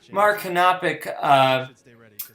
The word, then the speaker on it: Mara Kanopik: I mispronounced her name the entire time, but Mara Kanopik, she just did fantastic